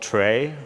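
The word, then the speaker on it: trie: that is a uh a tree that's written t-r-i-e some people call it trey or pronounce a tray some people call it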